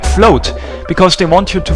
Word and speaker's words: FL0T: mean an O, because they want you to pronounce this stage's password like float, because they want you to float down here as Olaf.